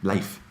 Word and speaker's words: Leif: It's a really, really good example that Jocko and Leif, Leif, it's spelled leaf, but it's Leif, use in the book